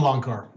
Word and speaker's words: Loncar: next presenter is tom loncar from uh i pronounced it right yeah you pronounce it you pronounce it right tom long car listen i've spent uh